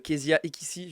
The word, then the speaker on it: Keziah Ekissi: Et aujourd'hui, on est avec un petit invité plutôt fort intéressant qui s'appelle Kezia Ekissi, je prononce bien.